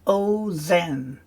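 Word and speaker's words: אֹזֶן: And the kamatz rule is that the kamatz becomes a short O sound when it's in an unaccented syllable, and usually the first. It's a closed syllable, meaning there's no vowel at the end of the syllable. There's no vowel after it, so it's oh no. And in the noun form, it's ozen. Right, that's just to help us.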